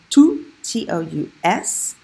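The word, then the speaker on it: tous: miss Alfonso - sad I'm pronouncing the s on to Co us because it's a pronoun how do I know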